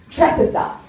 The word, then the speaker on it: Tresidder: So my last name is in fact pronounced Tresidder. So my whole fucking life is a lie.